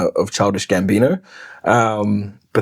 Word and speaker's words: Gambino: A huge influence is an artist called Donald Glover who went by a name of Childish Gambino. Um, but that's just word play because it rhyme with Dino.